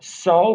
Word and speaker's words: sol: The fifth one is pronounced so, but it's S-O-L, kind of like the sun in Spanish.